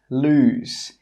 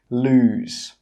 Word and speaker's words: lose: 'Lose', with just one O is pronounced 'lose'. It has a /z/ sound at the end. That means when you say this word, your throat should vibrate. Lose.